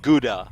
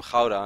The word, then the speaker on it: Gouda: No, in all jokes aside, you know the cheese that you guys call like Gouda, right? Which is actually pronounced Gouda. It's Dutch, and I feel.